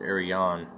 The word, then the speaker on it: Aryan: The word Aryan was originally pronounced Arian.